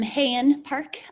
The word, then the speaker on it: Hyun Park: i'm pronouncing this but hyun park hi it's pronounced um hayan park um hi um i'm